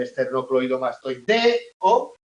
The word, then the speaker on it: esternocleidomastoideo: esternomastoideo vale hay mucha esternocleidomastoideo ojo que es largo No pues el esternocleidomastoideo la única vocal tónica es la e de deo vale el resto son vocales atonas vale sílabas atonas vocales